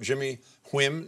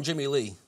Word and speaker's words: Jimmy Lee: Am I pronouncing it right, Jimmy Wim? Is that how you pronounce the chef? Well, we call him Jimmy Lee.